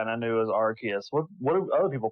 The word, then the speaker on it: Arceus: The next game is Pokemon Legends Arceus, and that is how you say it. That is official from Nintendo, from all the Nintendo Directs. They pronounce it Arceus.